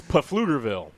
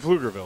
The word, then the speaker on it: Pflugerville: that was terrible it's pflugerville that's right there's a p in there we're going to pronounce it yes yes but flugerville is funny the next